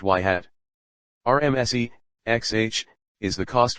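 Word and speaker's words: ŷ: When our system is given an instance's feature vector, it outputs a predicted value equals h, for that instance, y is pronounced y hat.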